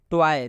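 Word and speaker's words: toy: आया हुआ है और जब भी ओ आ एक साथ में आएगा तो इसका उच्चारण ओऐ से होता है यानी ट में ओ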